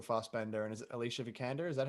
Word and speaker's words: Vikander: I love that both Michael Fassbender and is it Alicia Vikander?